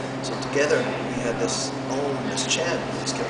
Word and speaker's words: Om: In yoga class, it's Om. It's spelled A-U-M. There's three sounds.